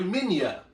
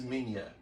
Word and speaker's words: Minya: I'm sorry, Minya. His name is Minya. His name is Minya. Minya, but it's spelled Manila.